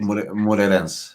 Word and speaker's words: Moreirense: And then the last one that you played in the league, 1-1 draw, how do you pronounce it? Moreirense, yeah.